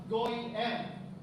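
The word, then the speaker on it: גויים: tinutukoy na Nation dito ang pronunciation niya sa Hebrew is go m sig nga po Sabihin niyo goy m goy m ibig sabihin sa Tagalog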